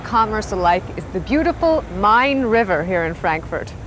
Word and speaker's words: Main: One of the main arteries of tourism and commerce alike is the beautiful Mine River here in Frankfurt. Mine is spelled, by the way, like Main Street, USA.